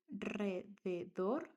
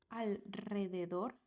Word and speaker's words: alrededor: So those keywords are Israel, al alrededor, and Enrique. So this is after S, after L, and after N. After these consonants, you write only one R, but this is pronounced like a strong one. Israel, not Israel. Alrededor, not alrededor. And Enrique, not Enrique.